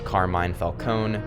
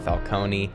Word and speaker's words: Carmine Falcone: Side note, it's Ra's al Ghul, not Raz, and it's Carmine Falcone, not Falcone.